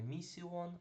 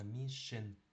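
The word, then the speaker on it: mission: Наприклад, місія будемо читати не місіон, а мішин. Шин.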